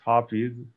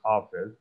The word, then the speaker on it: Hafez: quelquoi oni escribas Hafiz, char la araba pronuncia estas Hafiz, simila al Hafiz, sed en la persa oni diras Hafez.